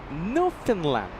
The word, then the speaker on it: Newfoundland: I It's Newfoundland. No. Well, okay. Well, there you go. We have a few locals uh letting us know how it's pronounced. New Finland.